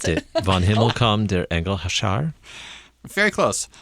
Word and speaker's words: Vom Himmel kam der Engel Schar: I'm going to He's not going to pronounce attempt it. Vom Himmel kam der Engel Schar. Very close. Vom Himmel kam der Engel Schar.